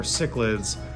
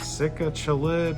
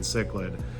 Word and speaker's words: cichlid: I you know I was didn't want to ask anyone and I was like sick chillid or chicklid or you know I didn't I didn't know.